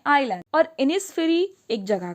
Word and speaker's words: Innisfree: Secondly इनिसफ्री पढ़ा जाता है, आइनिसफ्री नहीं पढ़ा जाता है।